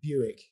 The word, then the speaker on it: Bewick: Buick. It's Buick.